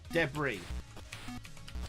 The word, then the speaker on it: debris: There's like an emphasis on the second syllable of debris. Debris.